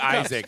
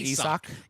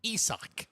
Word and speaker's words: Isaac: Now Looks like Isaac. It looks like Isaac. It's, yes, but yeah, I found out. Oh, it's that's pronounced Isak? Isak.